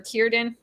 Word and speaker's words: Círdan: It should be a hard C for Círdan.